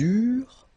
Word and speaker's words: eurent: Okay, remember that when we've got this ENT ending at the end of the plural form, so third person of the plural, you don't pronounce it, so you get eurent. Okay, and then with the